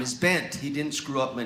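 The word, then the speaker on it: Bengt: In Sweden, you would actually pronounce the G. It would be banked.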